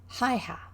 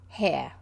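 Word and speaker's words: Haigha: happy his name is haiha no he pronounced it so as to rhyme with mare hair h-a-i-g-h-a pronounced hair i love my love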